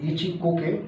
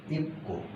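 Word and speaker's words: 一個: হবে তো একটা তো ইচি কোকে ইচি কো আমরা বলবো না নয় এটা হবে ইক্কো জাপানি যে হবে ইক্কো ইক্কো ওকে যদি দুইটা হয়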